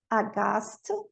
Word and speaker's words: aghast: O H, ele não vai ser pronunciado na sequência GH. And in the word final position. Aqui, ó. Ghost, ghetto, aghast, ghastly.